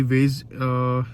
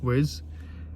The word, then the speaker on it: Waze: So basically वेज, इसको अगर हम स्पेलिंग करें तो WAZE वेज, और इट्स अ नेविगेशन ऐप।